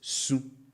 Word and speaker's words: su: And take note of how this is pronounced. You can hear some sort of nasal effect. So I say su. Su. Su. And this nasal effect is very important because without it, you'll be saying su.